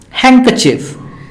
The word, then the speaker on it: handkerchief: the tea is silent handkerchief the D is silent handsome this the D